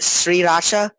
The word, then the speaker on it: Sriracha: pronounced what is it, Sriracha? I don't know. Sriracha. Sriracha. It's like, it's three full syllables, and you're supposed to say them like very separated.